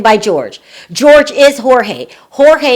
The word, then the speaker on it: Jorge: Jorge is the original pronunciation of his name.